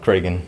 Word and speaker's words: Cragen: And yes, Cragen is the correct pronunciation.